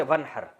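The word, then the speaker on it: وانحر: हैं अरबी में नहर तो वन असल में था व इन हर पढ़ा जाता है मिला के वन हर तो अलिफ साइलेंट हो जाता है वन हर फसली आप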